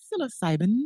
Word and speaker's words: psilocybin: Psychedelics like psilocybin, pronounce the word. Psilocybin.